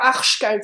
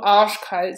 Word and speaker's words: arschkalt: Et vous avez remarqué, c'est pas arschkalt, c'est plutôt arschkalt. Le R est pas très prononcé.